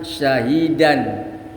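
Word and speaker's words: شَهِيدًا: Tulisannya syahidan, dibacanya syahida, diganti fathahnya dengan fathah, dibaca panjangnya berapa? 2 harokat.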